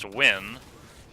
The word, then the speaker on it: Nguyen: y en and apparently that's a common name pronounced twin that I had never come across in my life so I was like hey mr.